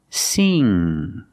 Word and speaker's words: sing: So the back of the tongue is up, touching the roof of the mouth, but in the back. And then you make a sound. It's kind of a nasal sound. So together, sing. Sing. We're using the long E sound like green beans. See, so it's more closed. Sing. Sing.